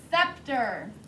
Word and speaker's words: scepter: 12 is the word scepter there is a silent letter in there don't miss it s c e p t e r scepter so again when